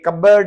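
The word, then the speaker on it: cupboard: ये रेसबरी, जैसे mulberry, raspberry, शहतूत होते हैं तो ये पी साइलेंट है। ये कबर्ड है तो कबर्ड, कबर्ड इसमें पी साइलेंट है।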